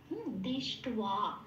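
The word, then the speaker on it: দৃষ্ট্বা: এবারে যখন আমি বলছি দৃষ্টবা, হ্যাঁ, তখন দৃষ্টর সাথে এই বটা যখন উচ্চারণ হবে ও প্লাস আ হয়ে, তখন এটা হবে, যেহেতু আকার আছে সেই জন্য ও প্লাস আ হলো, এবং উচ্চারিত হবে বয়ের উচ্চারণটা ওয়া, দৃষ্টওয়া, হ্যাঁ, এরকম।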